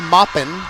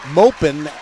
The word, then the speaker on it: Mopin: couple of pronunciations, because I've been saying Coco Moppin ever since I've been watching her play volleyball, as in Mary Poppins. But the public address announcer said it was Mopin, as in rhymes with open.